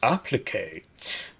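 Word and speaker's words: appliqué: armor kit This is This is pronounced applique armor kits to create a new unarmored USMCR AAVP EAC available to limited number of riflemen cards.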